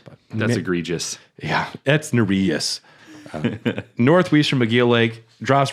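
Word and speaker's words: Nerijus: finger narus now I only remember that it's pronounced narus because I heard yurus say it the other day otherwise I would have said nus or nus but that's egregious yeah that's narus Northwest from MC Lake drops ruvia you want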